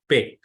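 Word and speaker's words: פּ: it is p in play that is per pay but if there is no dot that dot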